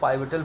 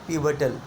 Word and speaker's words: pivotal: बहुत से हमारे स्टूडेंट्स जाने अनजाने में इसको पाइवटल पढ़ देते होंगे, लेकिन बच्चों इसका करेक्ट प्रोनाउंसिएशन है पिवटल। क्या पढ़ेंगे? पिवटल।